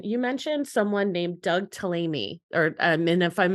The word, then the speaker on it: Tallamy: Uh, so when we initially met, Jason, you mentioned someone named Doug Tallamy, or um, and if I'm mispronouncing his last name, definitely correct me. Tallamy. Tallamy.